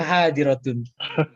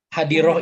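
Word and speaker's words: حاضرة: kan hadirun hadiroh begitu sebenarnya hadiroh itu bukan hah tapi hadirotun hanya takut kalo kayak kayak baca Quran itu kan kalau tak marbutoh itu berhenti bacanya jadi hak Ya udah kalau di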